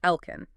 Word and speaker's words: עַל־כֵּן: We are looking at a specialized lexicon entry, specifically analyzing a word pronounced "alken" and its base root "ken".